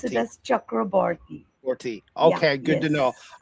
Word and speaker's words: Chakraborty: Yeah, pronunciation was absolutely correct, but we do it as Chakraborty. We pronounce it as Chakraborty.